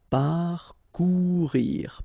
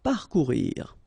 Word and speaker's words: parcourir: Okay, O and U together, ou, parcourir, parcourir. Rejeter. Okay, so here the E is not really pronounced, so you get rej.